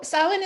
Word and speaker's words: Samhain: some history and traditions for this one so silent as we talked about last year which you